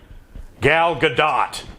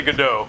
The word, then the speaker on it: Gadot: Gal Gadot. Okay. I know you're not supposed to say Godot.